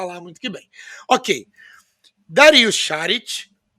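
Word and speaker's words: Šarić: Você machucou na verdade a pronúncia dele shared ele fala que Charles porque tem o Ezinho com acento dele lá uma outra língua então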